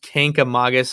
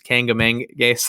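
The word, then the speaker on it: Kancamagus Highway: It was right next to I think it's pronounced Kankamagus Highway, but everyone says Kangamangas, and it's not the right way to say it.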